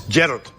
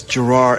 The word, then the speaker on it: Gerard: do that accent and we do the opposite and Scotland is Gerald just like that it's yeah it's the emphasis on the first part but here in America it's Gerard and it goes wrong